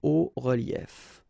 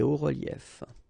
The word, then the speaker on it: hauts reliefs: it's quite simple, because S and S, but then we don't pronounce them here. Des hauts reliefs. Okay, un haut relief, des hauts reliefs.